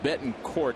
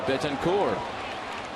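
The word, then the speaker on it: Betancourt: can this be that we've thought it was Bettton Court all these years and you're telling us otherwise?"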